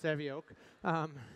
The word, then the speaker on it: Savioke: you know it looks like karaoke but it's pronounced Sammy oak and we created it to build robots to